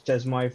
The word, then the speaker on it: chezmoi: guys know, I use Chezmoi for. It's called Chemo, I think. It's pronounced CHEZMOI for managing my dot files across several computers.